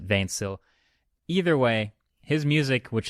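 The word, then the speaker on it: 20syl: hard to explain but twenty Syl which is also known as vain Syl because twenty Syl is the spelling of it but it's not English so you pronounce it vain Syl either way his music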